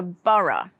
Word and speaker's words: borough: and schools it's a borough so did you spot the next sound it's like an uh sound in thora and burra there are a few